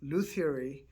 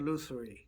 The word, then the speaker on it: lutherie: And before we embark on your career in Lutherie, which, I did some research and it's pronounced both Lutherie and Lutherie. Lutherie is what I Use.